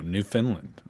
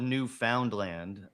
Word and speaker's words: Newfoundland: New Finland.